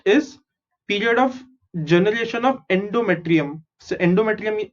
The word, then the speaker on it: endometrium: So यही endometrium यहाँ पे है. So how do you pronounce this? EN is N, DO is do, ME is me, TRI is tri, UM is endometrium.